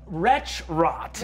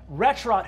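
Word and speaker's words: Wretchrot: five isn't there retro retrot yes for those at home ret rot is spelled w t c h r o t literally the words wretch and rot put together um retch rot who is a horrifying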